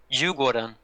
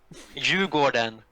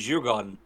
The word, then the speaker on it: Djurgården: Djurgården. You what? What? Djurgården.